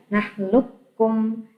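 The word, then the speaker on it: أَلَمْ نَخْلُقْكُمْ: Nah, bacanya nakhluqkum, tapi tulisannya alam nakhluqkum. Bisa membedakan ya. Yang tengah itu adalah cara menulisnya, cara membacanya yang paling pojok sebelah kiri. Alam nakhluqkum, qafnya dihilangkan seperti kafnya ada dua.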